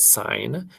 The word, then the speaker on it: sign: you spell the word sign s-i-g-n that g is silent addition sign and then